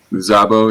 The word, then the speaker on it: Szabo: The Szabo? Zabo, yeah. Zabo, yep. Zabo, okay.